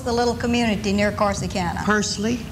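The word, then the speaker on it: Pursley: to what was the little community near corsican persley spell it pu r SLE y all right that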